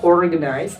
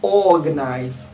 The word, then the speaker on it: organize: Bacanya tidak dibaca organize tapi dibaca organize. Ya, organize. Langsung R-nya ngilang, masuk ke O-nya organize.